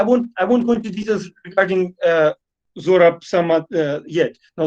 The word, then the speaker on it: Zorab: Because, of course, when they read the Z in his British passport, they read it with the German pronunciation as it said, right? So instead of Zorab, called Sorab, and then they somehow managed